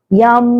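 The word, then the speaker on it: यं: माँ के साथ उच्चारण करना है। गहरी श्वास भरेंगे और हम बोलेंगे यम।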